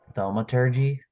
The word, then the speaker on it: thaumaturgy: So I think I'm gonna use thaumaturgy. Thaumaturgy? Is that how you pronounce that?